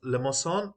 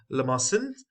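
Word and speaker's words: limaçon: left is basically okay it's pronounced as lemoson or lamason so the C over here is as s you know this is a c with a dash so now over here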